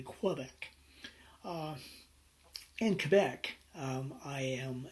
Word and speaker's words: Quebec: no so i say quebec it's because i am part of france uh and so i use the french pronunciation rather than quebec in quebec um i